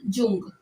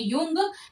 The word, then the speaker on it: Jung: इनका नाम है पूरा, युंग कहा जाता है, कई बार बोलते हैं युंग, लेकिन इनका जो स्पेलिंग है वो JUNG है। तो युंग प्रोनाउंस किया जाता है, बाकी जुंग लिखा जाता है।